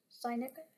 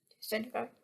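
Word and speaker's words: Sinegard: that they're receiving at sign uh guard? sin uh guard? Sign uh guard, I think I'll have to double check the pronunciation. I think it's sign uh guard. Hey editing me here it's Sin-uh-guard.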